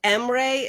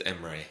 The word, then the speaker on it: Emmery: The world name, is it Mray? Am I pronunciating that right? It is Emmery.